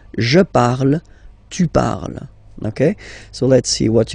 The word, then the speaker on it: parles: So you've got the two first forms, you pronounce them the same way. You write them differently, of course, because you've got E here, and then you've got E and S, okay? But then phonetically, they are the same.